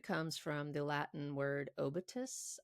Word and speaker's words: obitus: The word comes from the Latin word obitus, I think is the right way to pronounce it, meaning death.